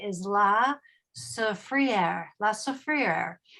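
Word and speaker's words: La Soufrière: largest Peak which is pronounced in a French way is La Sa frier La sofr it's active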